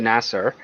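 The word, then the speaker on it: Nasar: So that book was written by Sylvia Nassar, or Nassar, I think it's pronounced, and yeah, she's a pretty good writer.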